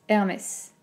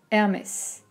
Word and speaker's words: Hermès: et on prend le 3e et r metz hermès hermès r c'est c'est assez drôle de faire ça